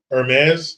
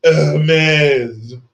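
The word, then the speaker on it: Hermès: they're hurting we're winning Hermes oh excuse me Nicholas hardic says it's pronounced heres um I'll remember that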